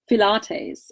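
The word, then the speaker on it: phthalates: Now comes the tongue twister, Pilates, and that's spelled P-H-T-H-A-L-A-T-E-S. And people generally don't know how to pronounce that, and it took me a while to figure that out as well.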